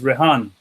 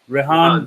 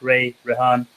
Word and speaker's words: Rehan: is the correct pronunciation well in my language is rehan rehan bhai everybody can pronounce it so they like Ray Ray on either way we have